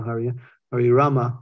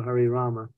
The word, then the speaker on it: Hari Rama: Hari Krishna Krishna Krishna Hari Rama Hari Rama Rama Rama Hari Hari it's a quick a whether you pull it in instead of expressing it outwardly that's the actual pronunciation